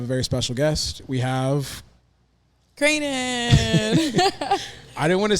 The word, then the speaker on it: Cranon: yeah that ain't it so it's cranan cranan yeah CR c r how would you like pronounce that like how would you spell that for someone to pronounce it the proper way Crane and then in like a crane oh crane crane crane and then I N Dash i n yeah cranen all right that's that's